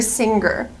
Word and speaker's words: singer: pronounce the word singer I cannot pronounce the G sound the hard G in this word I have to use a nasal sound singer singer not singer